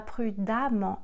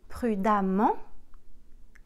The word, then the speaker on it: prudemment: Et prudent deviendra prudemment. Attention, le E se prononce comme un A.